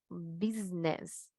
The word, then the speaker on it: business: Estas tres se escriben con S, pronunciamos con Z. La palabra su, his, his. La palabra negocio, business, business. Ahí está la vibración, ¿verdad?